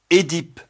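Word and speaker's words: Œdipe: Leur correspondant français s'écrit avec la double voyelle OE, mais prononcé E. Édipe, énologie, ésophague, fœtus.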